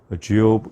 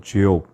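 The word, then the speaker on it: Job: 우선 명칭을 보시면 첫째, 히브리어로는 이욥이라고 이렇게 우리가 발음을 합니다. 영어로는 주욥 이렇게 되어 있습니다. 사실 영어 발음이기 때문에 정확하게 한글로 옮기긴 좀 어렵지만 가만히 들어보면 주욥 이렇게 되어 있습니다.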